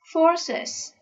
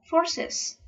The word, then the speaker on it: forces: Forces. We add s to the noun, but we have to pronounce one more syllable. Forces.